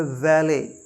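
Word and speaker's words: valet: कंबर क्यू कंबर फिर वी ए एल ई टी ये माय रियर लर्नर है वैले प्रोबेबली इसका मतलब होता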